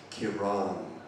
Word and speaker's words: Kiran: have the accent and no one from england has ever pronounced my name right it's kiran and my grandmother used